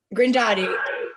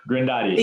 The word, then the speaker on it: Grindatti: Grindatti. Grindatti. Yeah, okay. It's pronounced exactly as it's spelled.